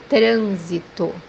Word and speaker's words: trânsito: nós, nós, The second pronunciation for letter S is pronounced as Z. The example that we have here is the word traffic, which means trânsito, trânsito, The 11th letter